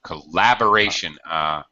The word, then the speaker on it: collaboration: the Oxford University, which Collaboration. collaboration. Collaboration. Stress is on the second syllable.